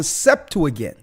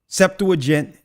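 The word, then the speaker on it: Septuagint: translated into the Greek it's called the septu again septu aent depends on how you would like to pronounce it it's called The septu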